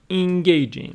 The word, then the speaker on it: engaging: Books that are engaging. Let's see what Longman brings with engaging. Engaging, adjective. Engaging. Stress on the second syllable.